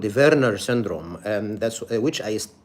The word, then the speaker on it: Werner: the correct pronunciation is Verer because V or W is pronounced as V in the German language and the one who described this syndrome his name is Verer or Wernner in English.